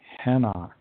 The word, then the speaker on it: Enoch: known as Eliah and the person we call Enoch was known as henok in the original language